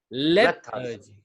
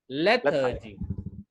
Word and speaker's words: lethargy: लेथार्जी, THA के ऊपर जोर देते हैं. हम लोग लेथार के ऊपर, थार के ऊपर भी हमारा प्रोनाउंसिएशन रहता था. बट हम लोग इसको lathe is the first syllable. लेथार्जी. लेथार्जी. RG नहीं, हाँ, लेथार्जी.